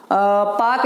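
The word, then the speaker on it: Palk: कहे पाक की खाड़ी, पाकवे, अब ये चूंकि एल साइलेंट है, ठीक है, PAL के इसे पाक बोला जाता है, तो पाक जल संधि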